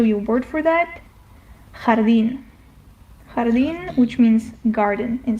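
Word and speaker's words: jardín: Jardin jardin which means garden in Spanish. So the jota is always pronounced like the flu H.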